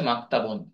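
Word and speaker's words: مكتبٌ: তো মাদ্রাসাতুন ইবতেদাইয়াতুন এই শব্দের আরেকটি আরবি রয়েছে মাকতাবুন, আমরা মক্তব বলে থাকি। এই মক্তব মূলত প্রাথমিক বিদ্যালয় বা প্রাইমারি স্কুল। মক্তব এর আরবি উচ্চারণ হচ্ছে মাকতাবুন।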